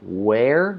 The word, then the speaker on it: where: where and were so where where are they and then were so where like where are they it's like the word air right like ah air so we say air